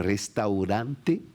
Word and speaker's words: restaurante: pasado, es bobo, pero restaurante cuesta mucho porque hay muchos problemas para un francés. Tú tienes la doble R, entonces la R francesa se pronuncia aquí, R. Entonces uno tiene que aprender a hacer R.